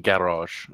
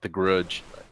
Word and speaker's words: Gavroche: is the European server it's pronounced Gavroche it's not The Grudge oh I got the